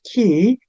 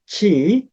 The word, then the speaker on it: ki: It is pronounced as key in Japanese but chi in Chinese it is the central force in the nature.